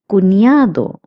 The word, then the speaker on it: cuñado: Notice that the N with the curly line is pronounced as nia, as I have also told you in previous classes. Cuñado means brother-in-law.